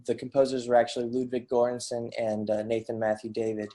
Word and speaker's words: Göransson: Hopefully I'm I'm Uh Göransson. Yeah, I've butchered that name.